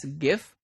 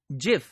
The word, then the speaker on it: GIF: graphic interchange format and it is pronounced as gif or some other people pronounce it as jif so it was developed